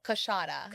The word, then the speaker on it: Coushatta: Coushatta. Coushatta. Okay. Yes. That's what I meant to say.